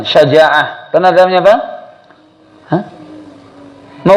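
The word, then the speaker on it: شجاعة: Kalau sudah tahu bahasa Arab satu diucapkan syaja'ah.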